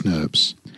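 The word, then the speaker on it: snRNPs: composed of five individual small nuclear ribonuclear proteins pronounced snurbs which comprise both RNA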